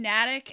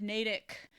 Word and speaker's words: Natick: He kept saying Natick instead of Natick, and I was just like, no, nope. That's wrong.